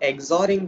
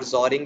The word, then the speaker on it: XORing: So XORing with 0 or XORing it with 0, like both are the common used pronunciations.